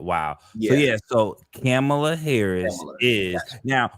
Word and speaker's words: Kamala: Oh, and real Um, quick, I do want us to say her name correctly. They're getting upset if you don't say her name correctly. It's Kamala, okay? really, It's Kamala, Kamala Harris, yeah.